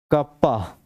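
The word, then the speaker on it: kappa: pronounced as pronounced as pronounced as कप्पा जैसे बचपन में धप्पा करते थे वैसे ही कप्पा ठीक है प्रोनाउंस एज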